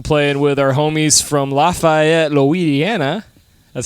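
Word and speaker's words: Lafayette: uh we're also playing with our homies from lafaette Louisiana that's how you say it com out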